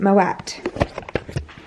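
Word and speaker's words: Moët: at the side i know recently that you pronounce it moet i always pronounced it my way because i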